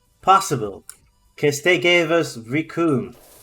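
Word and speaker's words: Recoome: because they gave us riku who rhymes with doom and will be gone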